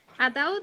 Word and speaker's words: ataúd: Ataúd es una palabra que tiene la fuerza de pronunciación en la última sílaba.